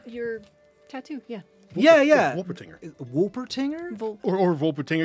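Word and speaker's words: Wolpertinger: tattoo yeah yeah yeah wolper tinger because I mean because it's German so like the W's of V sometimes oh yeah I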